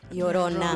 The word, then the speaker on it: Llorona: What is it? Llorona. Llorona. Thank Not you. Llorena? No. What, am I saying something Not else? Lauren. You're kind of No. mixing Llorona and Morena.